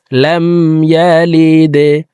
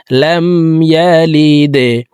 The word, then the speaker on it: لم يلد: লাম দাল জেরে লিদে, লাম ইয়ালিদে। দাল কলকলার হরফ নিচের দিকে ধাবিত করে ধাক্কা দিয়ে উচ্চারণ করতে হবে। লাম ইয়ালিদে।